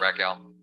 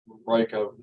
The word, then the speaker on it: Racco: Is it Racco? Raco. It's Racco, Judge.